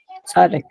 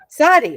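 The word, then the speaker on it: Tsadi: Tzaddik. Sadi, right, exactly.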